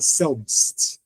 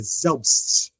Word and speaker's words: selbst: Sorem, pronuncia-se z, não é selbst, é zelst devin, não?